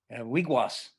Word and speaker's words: wigwas: do you say uh birch bark in algonquin wigwas w-i-g w-a-s and that is just that's just